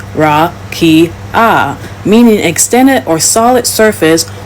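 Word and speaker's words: רקיע: In the Hebrew Old Testament, the word used for firmament is rakia, pronounced ra-ki-ah, meaning extended or solid surface or flat expanse, considered to be a hemisphere above the earth.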